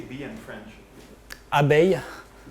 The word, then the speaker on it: abeille: Abeille. How? What are these chemistry? Abeille. Abeille? Abeille. How do you spell it?